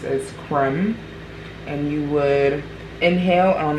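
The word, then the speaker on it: Kreem: is associated with Cali it's spelled k-r-e-e-m and pronounced as Crim and you would inhale on the exhale you would chant creme so a example is foreign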